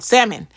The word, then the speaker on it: salmon: Salon salmon salmon salmon that don't say the L salmon yes oh I love